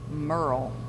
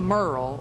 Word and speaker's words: Muriel: the way Or he just pronounced Muriel was Merle. Merle, like M-E-R-L-E, like Haggard.